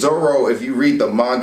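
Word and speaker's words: Zoro: don't have some time i think it's l what they're missing so like zolo is zorro if you read the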